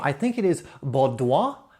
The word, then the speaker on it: Baudoin: I looked up the pronunciation. It's Baudoin technique.